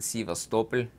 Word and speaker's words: Sevastopol: I know about what landed in Sevastopol. That's how you pronounce it in Russian.